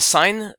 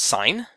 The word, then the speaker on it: sine: using these ratios the sine ratio is abbreviated with the word or with the letters si in which is pronounced sine not sin and so sine is